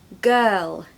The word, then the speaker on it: girl: to say g g girl you just put quite a bright L on the end of that and you'll have it perfectly girl when I say